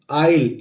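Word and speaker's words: aisle: आई एस एल ई ए आई एस एल ई इसको पढ़ेंगे दोस्तों आइल ए साइलेंट होता है ये है आइल और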